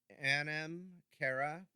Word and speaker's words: Anam Cara: 2017 don't quote me it's the magical folk Anam Cara and the last few words I always worry I mispronounce it but a in am CA ra